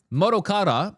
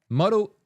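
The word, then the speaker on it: Kenta Motokura: Modokata, nope. I put a W in there for some reason. Modokata, nope. Motokura. I don't know why I'm. Previously directed Super Mario Odyssey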